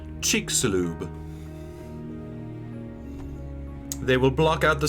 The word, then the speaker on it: Chicxulub: Pronounce it? Chicxulub. Chicxulub. Chicxulub.